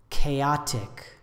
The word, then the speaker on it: chaotic: chaos chaos the adjective chaotic or chaotic three syllables with stress on the second syllable I say anxiety anxiety